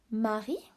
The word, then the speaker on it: Marie: Marie. Marie. Silent E. Marie is the name of a girl, like in English, Mary. Lèche.